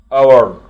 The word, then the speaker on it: hour: year سنة، month شهر، week أسبوع، day يوم، hour ساعة، عندنا ال H لا تنطق، half hour نصف ساعة،